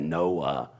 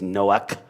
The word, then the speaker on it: Noah: Listen to the way I just said that, Noah. Does anybody know how that's spelled in the Hebrew? Because even when I spell it, people still think it's Noach or Noach.